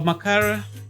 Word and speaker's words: Makara: Okay, so Makara, that's how we pronounce it.